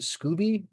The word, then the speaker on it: SCOBY: called the Scoby Collective, SCOBY. I think they pronounce it Scooby, but being an American raised on Hanna-Barbera cartoons, Scooby makes me think of Scooby-Doo, so I say Scoby.